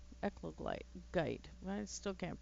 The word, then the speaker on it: eclogite: Well, I suppose under the roof again, I could do more of the echolite, or what, however you pronounce it. Eglokite? Eclogite. There we go. Eclogite.